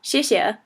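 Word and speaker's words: 谢谢: say it um so basically the X makes an sh sound sh so the I makes an e sound and the E makes an e sound like and then we've got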